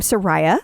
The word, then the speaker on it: Soraya: Then you have, which I was told that you pronounce her name Soraya.